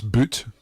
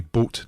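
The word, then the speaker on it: Das Boot: all right or that's boot if you want to say it like that but a german pronunciation would be boat that's boat so it's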